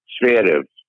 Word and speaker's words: Zverev: Can you pronounce that last name one more time? Zverev.